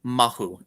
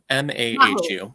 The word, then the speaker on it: mahu: know can you say the word I always mispronounce it the term is mahu m-a-h-u mahu right right and there is a huge